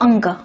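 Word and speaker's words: ङ: add a dot here it's pronounced /ngʌ/ some people call it anga, but no matter what the name is.. it is a nasal "n" anyway so let's focus on that.. it is /ngʌ/ the next letter is /chʌ/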